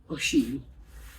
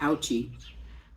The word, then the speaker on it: Ouchy: from lausanne lausanne to Oshi oh she which is spelled like o-u-c-h-y which I want to say ouchy but it's Oshi the subway train station inoshi